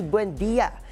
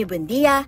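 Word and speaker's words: Buendía: Sa nasabing video, sinabi ni Buendia na Buendia ang tamang bigkas, hindi Buendia na madalas gamitin ng mga pasahero at konduktor sa Makati.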